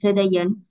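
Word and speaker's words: हृदयम्: Like, Hridayam is chanted as Hridayan.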